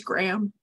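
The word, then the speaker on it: Graeme: She really wants this promotion, but her main rival for it is the social media manager, whose name is Graham, but the name is spelled G-R-A-E-M-E, which I kind of hate.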